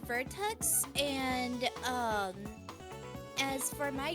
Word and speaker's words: Virtux: if that's or uh beerx I'm sorry I can't pronounce it I'm stupid yeah um it's pronounced vertex and um as for